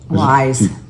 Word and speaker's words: YSE: Wise. Ice?